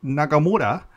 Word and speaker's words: Nagamura: you know pow could god i need to pronounce it right nagamura uh can he extract that intensity out of